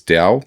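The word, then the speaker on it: Tao: And it's spelled T A O. I think that's it. It's Dao, but it's towel.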